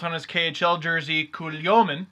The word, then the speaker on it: Kulemin: Now, Nikolai Kulemin, or as it was spelt on his KHL jersey, Kulyomin, or as it's pronounced in actual reality, Kulemin.